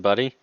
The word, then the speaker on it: BudE: of anything good you just now realize it's pronounced buddy bruh all right if i could choose a